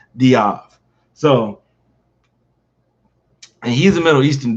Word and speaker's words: Dave: big guy mind you his last name was dave it's spelled dave d-a-v-e but his is pronounced diab so he's a middle